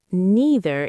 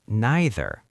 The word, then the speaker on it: neither: And some people say neither. Both are correct. In American English, neither is very common. In British English, you often hear neither. Again, choose the one that feels natural for you. Clarity is more important than accent.